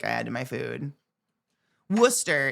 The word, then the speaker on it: Worcester: Worcester. In the UK, it's worcester sauce, but it's still spelled with all the letters, right? All the wor sireses. We're just skipping it.